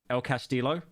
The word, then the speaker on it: El Castillo: I love how Pyro butchers the pronunciation of El Castillo. El Castillo.